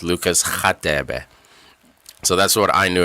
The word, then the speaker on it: Radebe: commentators call him Lucas Radebe. I'm sure a lot of you guys know it, but like South African, it's pronounced Lucas Khatebe. So that's what I knew him as, Lucas Khatebe, growing up.